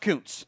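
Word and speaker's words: Kuntz: And yes, that is Zack Counzel ku ntz pronounced couns.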